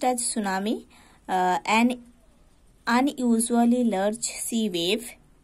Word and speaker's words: tsunami: Tsunami means, see here, अच्छा, pronounced as tsunami, an unusually large sea wave produced by an earthquake, है ना।